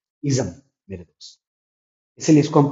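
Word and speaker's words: -ism: इसको बहुत लोग इज्म पढ़ते हैं जो कि गलत है। इसका उच्चारण होता है इज्म।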